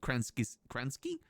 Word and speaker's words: Kransky: So we go footlong cheesy Kransky?